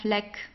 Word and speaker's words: Fleck: So the CK is just pronounced like a normal K basically. It's der Fleck.